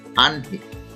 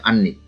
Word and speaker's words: আহ্নিক: আহ্নিক, সঠিক উচ্চারণ হচ্ছে আহ্নিক, অনেকে এটা ভুল উচ্চারণ করে, বলে আহ্নিক।